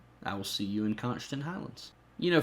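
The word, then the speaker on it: Konschtat: constant Highlands you know for years I pronounced that can't I what how did I pronounce it constant Highlands no cannot I used to call it cannot islands have no idea why it's not even reasonably close to the spelling of the word but anyway nobody nobody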